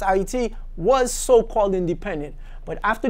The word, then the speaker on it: Haiti: caveat today up until July 28 1915 IET Haiti - but it's pronounced AIT was so-called independent but after July 28 nineteen